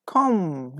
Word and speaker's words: comb: Then you brush your teeth or you brush your hair and comb. Yes, comb. Yağmur, Yiğit, Zafer, Mutluyar, Baran. Yes, B is a correct answer. B. C-O-M-B. Comb. Like we don't pronounce B at the end of the word, okay?